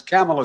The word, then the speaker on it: Kamala: It is pronounced comma, not semicolon, comma, like the punctuation mark, a la Harris.